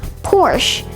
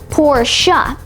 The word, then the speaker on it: Porsche: It's commonly mispronounced as Porsche, but it's actually pronounced Porsche.